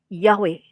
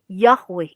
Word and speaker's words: Yahweh: sarjana kita itu mempunyai dasar untuk pelafalan Yahweh tapi bukan yeh yeh atau Yeh atau Yah gitu ya bukan nah saya melihat